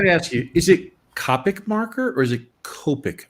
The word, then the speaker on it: Copic: Ben, if you talk to Adam Hughes all the time, then Yeah, it's Copic.